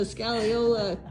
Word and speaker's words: scagliola: I can just imagine the scallola. Am I pronouncing that right?